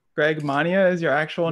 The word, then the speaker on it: Mania: Like you said, that's my real last name. Mania is, I believe, it's a hybrid German-Polish name. But yeah, just growing up, like we'd always get the common mispronunciation at doctor's offices or what have you. And we'd always be like, no, it's Mania.